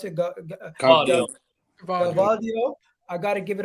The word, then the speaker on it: Gvardiol: How do you pronounce it? Gvardiol.